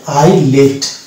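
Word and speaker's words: islet: লেট আই লেট অর্থাৎ এস এর আগে আছে আই এবং পরে আছে এন ওই জন্য এস এর এখানে প্রোনাউন্সিয়েশন হলো না এস বাদ হয়ে গেল এবং এটা উচ্চারণ হলো আই ডেট তো ডিয়ার স্টুডেন্টস আপনারা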